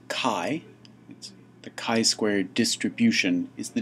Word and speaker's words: chi: after the greek letter chi the chi-squared distribution is the distribution we'll use it's the greek letter chi it's written chi it's pronounced k-a-i and it's the ancestor